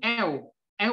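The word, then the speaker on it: ev: bilang kalau di dalam bahasa Turki V itu V itu sama dengan w v = w jadi cara membacanya l artinya rumah Oke rumah jadi dalam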